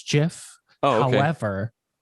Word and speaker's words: GIF: So I would argue he's wrong, and it's actually GIF. GIF, yeah. But according to the guy who invented it, it's GIF, like the peanut butter.